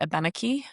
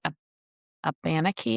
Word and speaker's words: Abenaki: I was very close to and she uh is a descendant of the Abenaki tribe. Most people say ab aanaki I think um but it's it's pronounced abenaki.